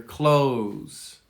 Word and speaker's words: clothes: Clothes. What clothes are you wearing? Now, I advocate just using the same sound, the same pronunciation for close the door.